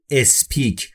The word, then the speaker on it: speak: اولش دوستان ا نداره، دقت بکنید در تلفظ انگلیسی یه مقدار باید رعایت بکنید، بعضی کلمات بی صدا هستن مثل s و p در speak، شما هیچ وقت نمیتونید اولش ا اضافه بکنید. بسیار دیده میشه که خیلی ها میگن speak، به این صورت نیست تلفظ درستش و تلفظ درست به این صورته speak.